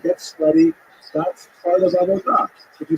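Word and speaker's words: עבודה: The word avoda in Hebrew, avodah, modern Hebrew, Sephardic pronunciation, it's hard to translate properly.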